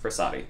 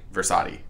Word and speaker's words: Frassati: Frassati. Frassati.